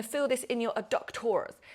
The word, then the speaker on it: adductors: You're going to feel this in your adductors. I always have to say it like an American sort of presenter.